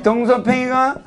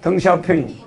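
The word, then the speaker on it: 덩샤오핑: 이 등서평이가 이 발음할 땐 핑이라고 그래. 등서평. 등서평. 등샤오핑.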